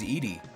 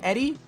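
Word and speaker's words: Eadie: My last name is Edy. Like eat these nuts or like eating disorder. Like it, dude. Like, it's a bad last name. Like, I'll say it. Not only that, but it's it's spelled E A D I E. And you know how many teachers in my whole life have been like, "Eddie. Eddie."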